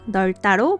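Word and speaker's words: 넓다: 여덟과 널따는 어떻게 발음해야 할까요? 여덟과 널따로 발음합니다.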